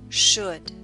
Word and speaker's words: should: Should. Note the L in should is silent. Should.